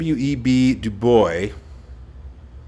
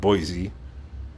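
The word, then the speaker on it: Du Bois: ago American sociologist web duboy I think I'm pronouncing his name right du b o i s it's like without the e it's not Boise I know web de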